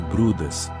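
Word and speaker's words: Bryde: As baleias de bridge, pronúncia-se brudas, são habitantes dos oceanos tropicais e subtropicais.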